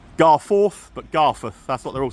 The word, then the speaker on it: Garforth: See, I've learned how to say it through the day as well, not Garforth, but Garforth.